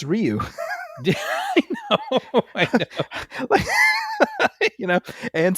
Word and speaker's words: Ryu: which is hilarious because I always thought it was rayu yeah well well that's that's what uh Damen Chapa who plays Ken uh was struggling with is he was not able to pronounce Ryu and I'm like how can you not pronounce Ryu I know you know